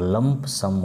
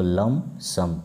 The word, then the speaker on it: lump sum: हैं एक मोस्ट और लंप सम मत पड़ेगा इसको लम सम भी साइलेंट होगा इसको सटाकर भी लिख